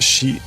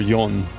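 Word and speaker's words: 四: has two pronunciations so the number four can be pronounced she or yon and you will see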